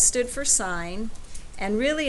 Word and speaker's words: sine: first three letters okay so si but you say that sign not sin right and it was that